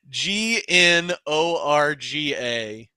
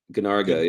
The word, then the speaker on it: Gnorga: It doesn't have a hard R on it. It's Gnorga. Ganarga, yeah.